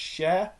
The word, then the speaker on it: Shearer: Not Shearer like Alan Shearer or Harry Shearer. It's pronounced Cher.